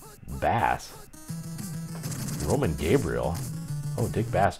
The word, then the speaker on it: Bass: Dick Bass, pronounced Bass.